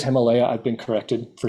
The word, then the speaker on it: Himalaya: region Himalaya region sorry I want to say it correctly it is Himalaya I've been corrected for